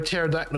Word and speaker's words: pterodactyl: Because the P is silent.